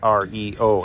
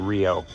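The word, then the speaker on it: REO: was named after, although they pronounce it R-E-O instead of just saying Rio.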